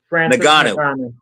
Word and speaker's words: Francis Ngannou: Francis Ngannou.